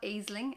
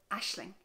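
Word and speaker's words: Aisling: if you're not Irish it's not a sling as you might think but Ashley Ashley this one is tricky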